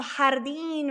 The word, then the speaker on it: jardín: Then we have that vocab, jardín. Remember, we have the H sound with the J.